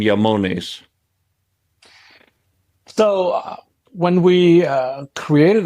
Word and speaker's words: IAMONES: rock and roll uh so the other part of the name comes from the remote and that's why the pronunciation is yamon and um why that